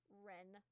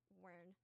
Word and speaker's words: Ren: I just wrote myself a little thing that just says Ren to pronounce it just like R-I-N. Because every time I see any E, my brain just goes Wern.